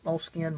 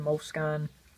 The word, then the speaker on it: Moleskine: Hope I'm pronouncing that correctly, but I've read that you can pronounce it any way you want to. Moleskine, Moleskine, whatever.